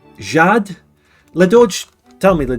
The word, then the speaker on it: Jade: do you pronounce it Jade the English I bet my name is top not top 100 H it's pronounced with a French accent so it's Jad